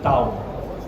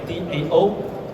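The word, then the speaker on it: Dão: Very specifically this region is called Dao. Okay. D A O. It pronounced as like D O W N.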